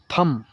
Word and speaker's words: thumb: THUMB, थम, इसको बहुत लोग थंब पढ़ते हैं लेकिन थम होता है।